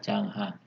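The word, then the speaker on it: Junghuhn: Yang kedua adalah iklim menurut Changhan, atau bacanya Changhan ya, tulisannya Junghun tapi bacanya Changhan.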